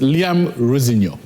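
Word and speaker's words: Rosenior: He says Liam Rosinho. He said my father said that. Like Semenyo, eh? Yeah, like Liam Rosinho. He said, but if it sounds nice, it's fine.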